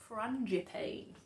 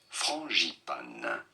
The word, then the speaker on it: frangipane: For reference, in France we say it as frangipane. Frangipane. Frangipane. But it'd be fine in Frangipane. English to say it as frangipane. Frangipane. Frangipane. Frangipane. Frangipane. Like marzipan. Frangipane.